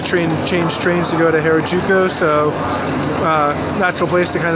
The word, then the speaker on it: Harajuku: Harajuku. Oh, I pronounced it wrong.